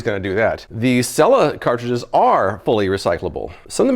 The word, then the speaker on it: Selah: of the bottle is Cella I asked the company they said it rhymes with Bella not SAA not Sila Cella now while some of